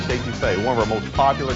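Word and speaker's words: étouffée: I want some estouffee with crawdads. What Bubba's trying to say is crawfish etouffee, one of our most popular Cajun dishes.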